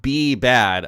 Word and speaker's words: B Bad: It's pronounced B Bad. Okay, I appreciate it.